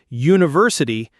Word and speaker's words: university: For example, the word university starts with the letter U, which is a vowel, but it sounds like it begins with a Y.